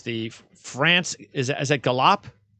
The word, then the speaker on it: Galop: Is that Galop? How do you pronounce that? France Galop? Gallop. Oh, here I am trying to be European with my vocabulary. It's just Gallop.